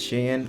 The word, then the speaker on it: SHEIN: yes for those who are asking it's actually pronounced shin fun fact it was called shi insider before